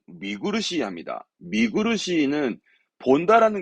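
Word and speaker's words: 見苦しい: 그럼 발음은 미구르시 합니다.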